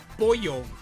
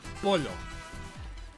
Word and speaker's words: pollo: Okay, so when you have a double L in Spanish, it does the Y sound. So that's why you hear pollo instead of polo.